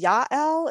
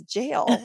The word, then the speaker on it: Jael: name in the Bible, which I think is Yael. It's J-A-E-L. It's like a heroine in the Bible. I don't know. I wasn't familiar with it. Okay. And I was like, well, if we spell it J-A-E-L, like people are going to think it's jail, you know, like I